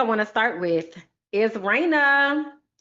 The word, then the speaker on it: Reina: to start with is Raina. So Raina is my hair. And Raina is spelled Reina. Shout out to Raina. And Raina's emoji is the crown because Raina is the Spanish word for queen.